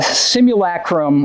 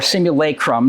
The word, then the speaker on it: simulacrum: By offering a simulacrum or simulacrum, depending on where you're from, of a relationship.